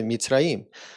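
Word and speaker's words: מצרים: Egito foi uma pessoa, o nome dele, né, de forma pronunciada é Mitzraim.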